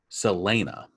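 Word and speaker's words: Celaena: name wrong it's spelled c-e-l-a-e-n-a and it's pronounced uh selena the main character selena is a assassin so that by profession she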